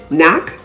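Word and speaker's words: knack: parliament silent k words the k is silence before the letter n at the beginning of words like nak k-n-a-c-k knee k-n-e-e knife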